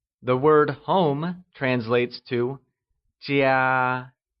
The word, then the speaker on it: 家: The word home translates to 家, and it is pronounced using the high level tone. Let's hear you say 家.